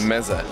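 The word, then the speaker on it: meze: Meza.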